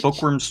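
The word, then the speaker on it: Bookwyrm: And Bookworm's treasure is over here. Alright, And so it's spelled W-Y-R-M.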